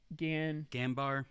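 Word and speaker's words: Ganbare: Ganbar.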